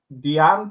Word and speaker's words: Dian: Yeah, Diane Bashar. Diane. It's not Diane, is it? I did hear it pronounced earlier. Yeah, Dian. Dian. Yeah, like Ian with a D.